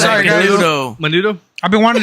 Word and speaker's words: Macanudo: Macandu. But I say it like how I heard it. So Motherfucker. Macanudo. He said Sorry, guys. Macanudo.